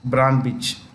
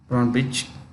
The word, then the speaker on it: Ana Brnabić: Serbia's prime minister is Ana Brnabić. Brnabić. It's the C is pronounced with this Brnabić.